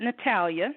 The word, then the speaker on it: Natalia: We pronounce it Natalia. That's how her name is in the book. Natalia is the feisty one.